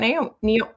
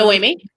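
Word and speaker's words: Noemí: How do we feel about Naomi? Say it properly. Noemi.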